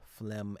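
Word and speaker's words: phlegm: He's talking about words that have similar final salabic pronunciations uh but are spelled differently. Notice D R A C H M P H L E G M T H U M B all end with the final M sound and none of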